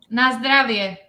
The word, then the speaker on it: na zdravie: It's na zdravie. Na zdravie. It's similar to Russian na zdarovie.